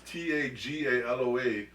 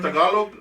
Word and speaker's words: Tagaloa: But if you see it spelled, it's Tagaloa, and the A at the end is like a G.